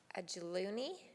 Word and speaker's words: Ajuluni: AJULUNI. IS THAT RIGHT? THAT'S ABSOLUTELY RIGHT. Mayor Borowsky: JUST LIKE IT'S SPELLED.